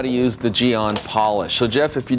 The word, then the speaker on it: GYEON: I've heard people see gy on okay and they're pronouncing the Y but the Y is actually silent so it's gon just like it says without the Y that's it we're going